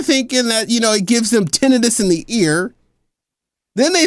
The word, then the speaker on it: tinnitus: that people that got the vaccine were experiencing tinnitus, ringing in the ear. Tinnitus, I should say, is how it's pronounced.